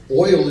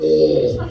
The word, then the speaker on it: oil: __ ] Washington oil is two syllables it's not all don't do that all